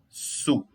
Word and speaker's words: sous: Quando eu tenho o O e o U, é o som de U. Normal, sem fazer muito esforço.